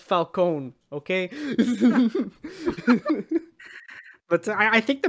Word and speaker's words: Falcone: Hey, people making movies, us spaghettis, it's pronounced Falcone, okay?